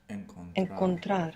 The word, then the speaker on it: encontrar: Encontrar.